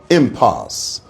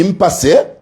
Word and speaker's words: impasse: For the last time, it is impasse. Not the impasse or lo impasses.